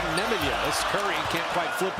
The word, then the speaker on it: Nemanja: Instead of Nemanja. Called him Nemanja his whole career, but that is now he would prefer Nemanja as Curry can't quite flip it in.